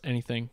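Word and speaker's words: NETHING.xyz: Pronounce anything, because you can, in theory, design anything.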